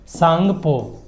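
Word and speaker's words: Tsangpo: का नाम क्या है सांगपो टी साइलेंट है वंस अगेन सांगपो चाइनीज लोगों के के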